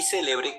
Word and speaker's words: celebre: en el tiempo pasado y celebre con el acento en el medio se refiere al verbo celebrar en el modo subjuntivo.